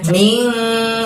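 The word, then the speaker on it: من: Jadi dibacanya tidak min, tidak n jelas, tapi kita harus membaca samar dan dengung. Jadi bacaan minnya itu kita bunyikan dengan ming seperti itu ya, samar dan dengung.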